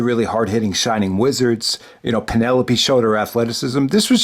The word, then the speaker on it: Penelope: We got Hikaru Shida defending her women's championship against Penelope Ford. I always pronounce it Penelope. It's Penelope.